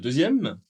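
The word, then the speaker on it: deux: Eh bien, en fait, le X n'est pas prononcé.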